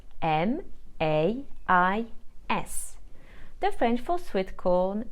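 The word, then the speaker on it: maïs: I to form a I must separate those two letters which means that I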